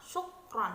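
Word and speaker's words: شكرًا: menjadi panjang untuk Reva Syukron perubahan ungkapan ini sering diucapkan dengan pola intonasi bahasa Indonesia atau Jawa sehingga ungkapan ini kehilangan ciri dan karakternya Ya seharusnya diungkapkan telah memberikan tekanan pada motto yang pertama Syukron Hai karena ungkapan ini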